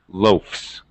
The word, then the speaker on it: loafs: a f s and since f is voiceless I have to use voiceless s pronunciation it actually sounds like an S loafs just like cats all right cat T